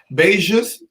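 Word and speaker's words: beijos: much thank you joe beijus that's how you say it in portuguese thank you we're learning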